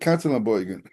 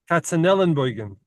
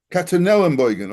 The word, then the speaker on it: Katzenellenbogen: And I don't know if there's a street Katzenelbogen. Katzel. I think we're saying you're wrong. I think it's Katzenellenbogen. Katzenellenbogen.